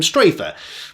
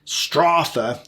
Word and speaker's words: Strafer: I've been calling him Strafe, but it's not. It's actually pronounced Strafe after the German phrase Gott strafe England, God save England.